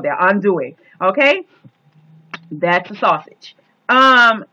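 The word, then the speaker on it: andouille: South we go and make groceries okay uh undou and I hope I'm spelling it right A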